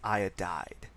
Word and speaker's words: iodide: So we take that first syllable syllableish it's iod uh and we add the eyid ending to that so it becomes iodide. Okay?